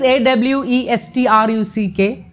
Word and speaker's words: awestruck: this is yet another word that is often mispronounced spelling is a-w-e-s-t-r-u-c-k we normally say abstract but the real pronunciation